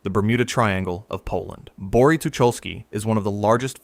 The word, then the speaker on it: Bory Tucholskie: Number one, Bory Tucholskie, Poland. Pronounced Bo-ry Tu-chol-skie.